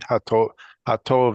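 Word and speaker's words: הטובים: So Tovim should flow. It shouldn't be separated. Hatovim. They are separate syllables. To Yeah. and then Vim. But I'm not is throwing one- in a break, right? There should never be a break unless there's an aleph or an ayin sound. There's no aleph here. Okay. So to, Hatovim. ha is one syllable. To is the second syllable. Vim is the third.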